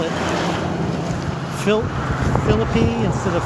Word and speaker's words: Philippi: And you may be wondering why I call it Philippi instead of Philippi, like the usual biblical pronunciation. I've been told by a number of West Virginians that this is the correct pronunciation around here, Philippi.